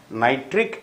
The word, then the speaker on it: nitric: So you have HNO3, which is called nitric acid. Ic. Ic. The stress is on ic. Nitric acid. H3PO4.